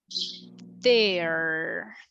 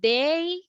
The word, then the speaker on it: there: so please guys please I need you to exaggerate the letter R there there if you say they that is another thing okay can I say